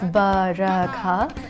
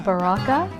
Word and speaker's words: Barkha: It's not just Barkha, but it's Barkha. So when non-Indians read it, they read it as Baraka. So they pronounce it incorrectly.